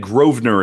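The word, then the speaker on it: Grosvenor: course is in London and uh and and groer is it's spelled g r o s v n o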